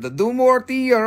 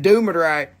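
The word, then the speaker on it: Dumortierite: It's do more to your right, not to your left. Do less to your left. Do less to your left and do more to your right, and then you will never forget how to say it.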